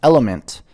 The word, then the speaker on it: LMNT: LMNT, pronounced element, is a tasty electrolyte drink mix with everything you need and nothing you don't.